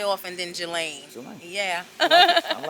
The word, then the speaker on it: Jalane: how do you say your last name galain Jala is my middle name but my stage